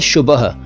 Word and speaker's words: शुबह: फिर शुबह, ये सुबह नहीं है, मॉर्निंग नहीं है, यह है शुबह।